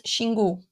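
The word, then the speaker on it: Xingu: you pronounce it properly in Brazil we pronounce shingu okay so uh uh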